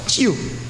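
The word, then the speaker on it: च्यु: Chu, not chew, eh? In English, people say chew. The word is chew. Say? Chew. Chew.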